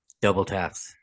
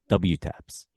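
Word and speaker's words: WTAPS: brand WTS Now cal how do you say this brand double Taps double Taps e yeah the first time I saw it I was like what Taps what w Taps and I I didn't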